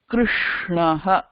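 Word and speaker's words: कृष्णः: இது மூர்தா. இது ரொம்ப வித்தியாசமா ப்ரொனவுன்ஸ் பண்ணணும். கிருஷ்ணஹ அப்படிதான் சொல்லணும். ஏன்னா கிருஷ்ணல இருக்கிற ஷ மூர்தா யூஸ் பண்ணி தான் சொல்லணும். கிருஷ்ணஹ அப்படி. Being the cerebral and you have to pronounce it that way.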